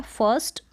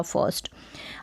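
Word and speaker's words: first: है देवर फिर है फर्स्ट अब इसको फर्स्ट नहीं बोल सकते यानी आरकॉम साउंड फूल कर दे नहीं उच्चारण पूरा कर दे नहीं फर्स्ट फर्स्ट आबरू का साउंड सुने नहीं दे रहा होगा अगर आप इसको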